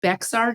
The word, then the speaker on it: Bexar: our stupid County I have no idea why bear it's pronounced that way if it's if x is